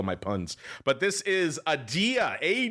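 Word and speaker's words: Adeia: But this is Adia. A D E I A is how it's spelled, listeners.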